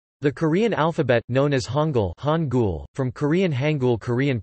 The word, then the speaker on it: Hangul: The Korean alphabet, known as Hangul, from Korean Hangul Korean pronunciation, Ha-N-L, has been used to write the